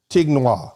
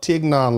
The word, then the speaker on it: Tignon: It's not Tignois, okay?